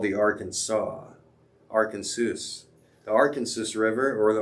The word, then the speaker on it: Arkansas: So another fun fact, the Arkansas River may be the only river whose pronunciation changes as it crosses state lines. In Kansas, it is called the Arkansas.